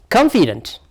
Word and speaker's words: confident: Confident. Confident. Therefore, this is a syllable.